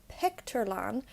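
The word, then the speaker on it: bpictiúrlann: The word for cinema is Pictourland. Notice how I pronounce it like a B.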